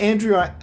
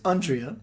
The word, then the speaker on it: Andrea: Not Andrea or Andrea, it's Andrea. And it's not Ishk.